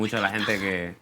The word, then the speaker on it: Huétor Tájar: (WHISPERS) From Huétor Tájar. Huétor Tájar. I was really bothered about putting the stress on the wrong syllable.